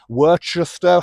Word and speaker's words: Worcester: Is it Weird Worcester, Worcestershire, Worcester, however people pronounce it? I just pronounce it Worcester like the sauce anyway.